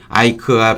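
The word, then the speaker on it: Ike: 뭐, 아이크가 별명이 자기가 미국 가가지고 아이크라고 했다는데, 이크라고 적으니까 누가 이크라고 읽나요? IK로 이크라고 이자 붙여서 했다면, 이크로 하지 않고 아이크, 그렇게 발음을 했겠죠.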